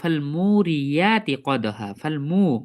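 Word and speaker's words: فَالْمُورِيَاتِ: তারপরে আমরা দেখতে পাব মুরিয়াত মিমে টান আছে ফাটান নেই ফা এর সঙ্গে ডাইরেক্ট লামটা যুক্ত হয়ে যাবে মুরিয়াতি মুরিয়া মুরিয়াতি এখানে অনুরূপভাবে আ উচ্চারণ করব না কি উচ্চারণ করব ইয়া উচ্চারণ করব মুরিয়াতি আর এখানে যদি আমরা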